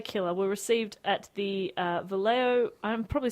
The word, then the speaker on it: Vallejo: prepared by the killer were received at the Vallejo. I'm probably saying that wrong. I'm really sorry, Dave. It's pronounced Akron. Did you say Vallejo? It's a Vallejo, yeah.